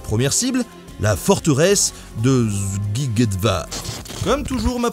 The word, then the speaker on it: Szigetvár: Ça se dit Szigetvár. Sziget, d'ailleurs, ça veut dire « île », c'est le nom d'un festival aussi en Europe. Parce qu'en fait, SZ, ça se prononce comme un S, en français.